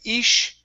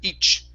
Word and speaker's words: each: your teeth and here instead of saying ish this is this is a CH sound you stop that the the CH the air flow so it's each each other each other try